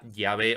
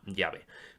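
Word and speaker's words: Yahvé: casi universal de que la pronunciación original de tetra grama era llave o por lo menos muy cercana a llave pero lo que nos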